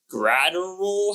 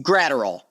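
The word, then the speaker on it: Graterol: say it wrong again gral how what's how how am I saying this grater all yeah I think it's like it's like ader all but just yeah I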